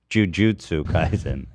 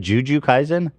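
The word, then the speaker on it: Jujutsu Kaisen: pronounce j u uh is it jiujitsu kaen Jujutsu jju oh yeah it's Jujutsu Kaizen okay so I yeah Jujutsu Kaizen Juju Ka I said Juju Kaizen I didn't say that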